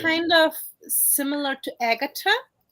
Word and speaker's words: Agata: kind of similar to Agata H in it so that's right it's more like of an original Latin pronunciation and originally I'm from